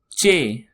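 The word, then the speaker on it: چ: Moving next alphabet is ch. Repeat after me. Ch. It sounds like chair.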